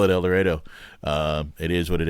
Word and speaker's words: El Dorado: at Walnut River Brewing uh we are in elero Kansas and I promise you that's how we actually pronounce it there um I was gonna ask yeah no El Dorado is about 10 IQ points higher but uh